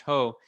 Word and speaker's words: JOH: honduras juan orlando hernandez known by his initials ho joh or pronounced ho in spanish he stole the election